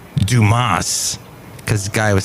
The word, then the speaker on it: Dumas: us the Musketeers it's pronounced Dumas because the guy was